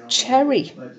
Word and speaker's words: Cheri: should actually i know i always say her name wrong but someone's told me it's actually pronounced cherry so cherry maybe you